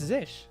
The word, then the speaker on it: zsh: zsh or zsh Daniel do people not call it zish no it's zish why would you if you say bash why wouldn't you say just say this Z cell that's like three more syllables than it has to be all right so we